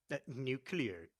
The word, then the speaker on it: nuclear: Nuclear. It's pronounced nuclear.